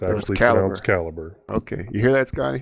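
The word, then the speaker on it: Calibre: Is it caliber or calibbra? It's actually pronounced caliber.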